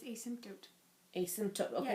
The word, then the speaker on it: asymptote: function in an the no say it again asymptote of a function is an imaginary line towards